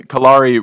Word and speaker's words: Kalare: So then Kalare rhymes with safari.